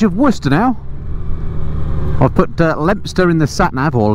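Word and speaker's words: Leominster: around the edge of worcester now i've put lemster in the sat nav or leo minster is the way it's pronounced or rather not pronounced but spelled and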